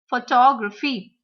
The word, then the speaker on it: photography: Photography. Photography. 4-syllable words. That is why we are going to stress on the second syllable.